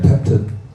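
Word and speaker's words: ט: 아홉 번째 테트, 티그 소리죠. 아홉 번째.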